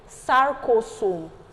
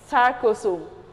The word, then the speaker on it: sarcosome: In a normal cell, it is mitochondria, but in muscle, we're going to call it sarcosome. I'm pronouncing this very well so that you will not go and do mistake. Sarcosome.